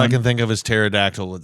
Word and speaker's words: pterodactyl: can think of is pterodactyl with the P is silent, so it's not really working.